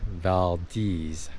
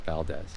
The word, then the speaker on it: Valdez: video fishing or Andor when we go to Valdes that's next that's how you pronounce it by the way vales not Valdez all right bye we got lucky and the